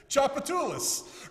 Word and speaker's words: Tchoupitoulas: Tchoupitoulas.